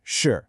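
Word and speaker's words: 是: It's got a falling tone, so your voice starts high and drops down. Shì.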